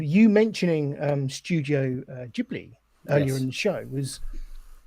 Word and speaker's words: Ghibli: I was saying, you mentioning Studio Ghibli earlier in the show was very prophetic, because